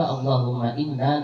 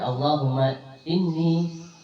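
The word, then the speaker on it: اللهم إني: Kadang orang kan berdoa, orang mencari kadang orang membaca doa selamat tuh, Allahumma inna nas'aluka salamatan fiddin, gitulah, bersamaan. Ini bacanya Allahumma inni nas'aluka salamatan fiddin, nyalungan, nyalah ada.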